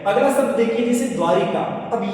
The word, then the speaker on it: द्वारका: अगला शब्द देखिए जैसे द्वारिका। अब ये शब्द ऐसा है दोस्तों। यहां पर आपको क्या करना है? सीधा-सीधा याद रखना है। शब्द द्वारिका नहीं होता। शब्द शब्द होता है द्वारका।